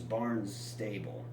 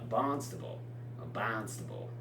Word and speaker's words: Barnstable: Hyannis Port is south of Hyannis, and just north of that is Barnes Stable. That's how an Ohioan would pronounce it, Barnstable. I think out there it's Barnstable, or something along those lines, right?